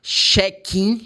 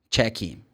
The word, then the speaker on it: check-in: Because in Portuguese, say check-in, check-out. Yes, but it's not right. Because the CH in this case, for this word, is ch, check, check-in, check-out. This is the way.